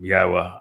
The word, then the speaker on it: Yahowah: revere Yahweh's name, and that you pronounce it correctly. And don't let anybody tell you that that isn't the correct way to pronounce it. It's obvious. Um, Yahwa, I explained how to pronounce three of the four letters and the very verb that he told us was the basis of his name, Haya.